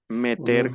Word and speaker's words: met: le verbe metre REP ni la S final se pronuncia ni la t il me el me